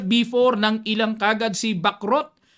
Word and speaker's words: Bacrot: ng ilang kaagad si Bak rot ang term po or ang pronunciation nito sa Europe backrow eh o sa atin dito sa Pilipinas back rot yan Bishop C5 Ayon